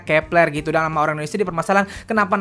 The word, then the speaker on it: Kep1er: nama grup ini kan ditulisnya ke-1 er dibacanya Kepler gitu dalam orange dipermasalahin